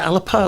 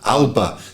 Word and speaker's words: Alba: Alba. They called it Alba Flamenca because of the you know, because it's got the relationship with Alba as in Scotland, the Gaelic.